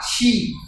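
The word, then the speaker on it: し: শি মোটা হবে, সা শি।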